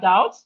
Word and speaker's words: doubt: So again, words with silent letter B, we have doubt. The B in doubt is silent.